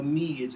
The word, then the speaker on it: Meath: Meath, or now Mead as it is pronounced, probably had to denote